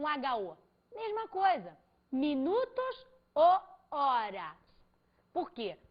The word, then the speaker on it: horas: Minutos ou horas. Por quê? porque o H no espanhol, foneticamente falando, é mudo.